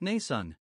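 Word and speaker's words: Mnason: by a christian brother named nason pronounced nasan originally from cyprus he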